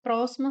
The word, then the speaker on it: próxima: Próxima separa dessa forma. Próxima. Nós temos aqui como sílaba tônica o pró. Então, aqui nós temos uma proparoxítona, né? Uma vez que a sílaba tônica é a antepenúltima.